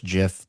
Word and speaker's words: GIF: It's the GIF versus GIF debate, which is GIF, by the way.